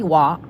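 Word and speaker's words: Hoa: Wa in Vietnamese means flower, actually, but not spelled W-A. It's spelled H-O-A. It means flower, but it's pronounced like W-A, like Wa.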